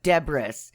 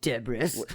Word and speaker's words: debris: okay all right I don't want instead of debris oh you're so fancy deis isn't that making me less fancy to say